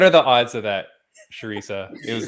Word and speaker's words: Charisa: the bksc sweetheart cinco you said it wrong but it sounded really good oh man it's an sh a sharisa oh my goodness what are the odds of that sharisa it was like so